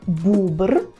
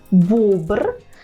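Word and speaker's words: bóbr: тваринку на аби як бубр бубр так бобер бубер пишемо через о з рискою тобто оприскуваний і тут можемо собі пояснити це тим що в Українському подібному слові є буква О а хто вже дивиться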